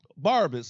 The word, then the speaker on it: Barabbas: Barabbas is his real pronunciation.